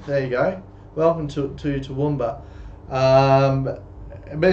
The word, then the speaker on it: Toowoomba: Don't try to pronounce it. It's called Toowoomba.